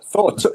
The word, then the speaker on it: Thor: The Conan Doyle one is the Problem of Thor Bridge, as in right, and it's spelled that. Yeah, Chris Hemsworth. So, Alan, to you, is it Thor? Thor, Thor. A Tor is something completely different. A Tor is a hill.